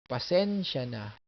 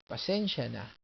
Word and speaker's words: pasensya na: Accent is here. Pasensya na. Pasensya na.